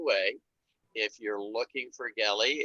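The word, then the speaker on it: Geli: if you're looking for kelly it's g-e-l-i she always says it's like kelly with a hard g uh and uh that's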